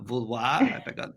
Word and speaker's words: Vouloir: love both names i love your name vulwar pronunciation right and i love it actually good and